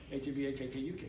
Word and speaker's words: Habakkuk: We should have already read Habakkuk, because Habakkuk, and I say it weird, I know I do, but that's how it's spelled. H-A-B-A-K-K-U-K, Habakkuk. That's how you're supposed to say it.